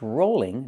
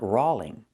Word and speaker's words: rolling: It's rolling, not rollling. The word is not pronounced rolling. It's pronounced rolling. Use the long O sound like pole and toll.